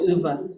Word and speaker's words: Ove: I think it's pronounced Uva.